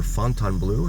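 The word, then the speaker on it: Fontainebleau: And you can see Resorts World over there as well as the Fountain Blue or Fontan Blue as it's also I've also heard it pronounced.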